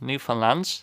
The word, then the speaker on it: Newfoundland: or Newfaland I guess I think the pronunciation that's correct on Newfoundland. It's not New Foundland. The emphasis isn't on Found or Found but Newfoundland. I think that's more or less right.